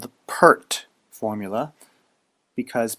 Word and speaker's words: PERT: RT sometimes called the PERT formula because PE RT from left to right can be pronounced pert the base e is